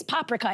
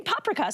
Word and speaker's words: paprika: A Hungarian woman during the Kaftans Live said by the way, it's paprika. In most Hungarian words, the emphasis is on the first syllable. And so I was like, okay, paprika.